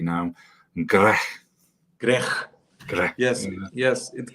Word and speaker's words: Greh: just solely focused on and I'm going to pronounce this correctly now gre gre gre yes yes it comes from from